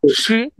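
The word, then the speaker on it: 十: Fourth টোনে, শ্রী। খেয়াল রাখবেন, যদি ভুলে এটা সেকেন্ড টোনে উচ্চারণ করি, এটাকে সেকেন্ড টোনে উচ্চারণ করি, হ্যাঁ, SHI, তাহলে উচ্চারণটা এরকম শ্রী, তাই না?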